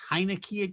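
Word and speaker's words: Heinicke: can you say tyler heineken quarterback for washington uh but nobody can say tyler or anything it's not spelled like heineken it's like okay who you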